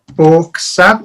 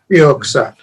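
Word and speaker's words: Björksav: So, We were given a sample of the Bork Sav. Is that how you say it, Rich? yeah, Bjork Sav. York Sav. York Sav, right?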